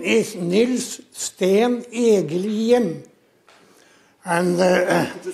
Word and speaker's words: Egelien: My name is Nils Sten Egelien. And could you spell it? Nils, Nils. Stein. Egelien.